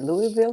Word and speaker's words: Louisville: one is another story Louisville Kentucky silent s I know that so